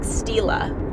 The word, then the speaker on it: Stila: Steal is spelled like Stila.